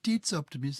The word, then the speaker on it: tidsoptimist: And they are in Swedish rather, I'm not sure how to pronounce this, so forgive me if I've got it wrong. Tidsoptimist, a time optimist. Oh, tidsoptimist.